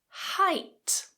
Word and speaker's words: height: how about this one height height this one tends to get confused with hate that's a completely different